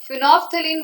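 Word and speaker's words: phenolphthalein: तो 3 common indicator का एक एग्जांपल ले लेते हैं, जैसे कि लिटमस बहुत ज्यादा यूज होता है, फिनोफ्थलीन बहुत यूज होता है, एल साइलेंट है इसमें, और लिटमस नहीं, लिटमस तो हो गया, और पीएच यूज होता है, पीएच is also an indicator.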